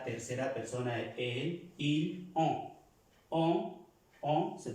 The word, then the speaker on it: on: Para los que es la primera vez la clase, es una O, se pronuncia una O, pero nasal, no O, sino on, que es para decir